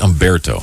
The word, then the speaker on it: Humberto: Where'd they get Umberto? I mean, I'm sure it's a beautiful name, but don't they? H. Umberto. Yeah, with an H. But the H is silent.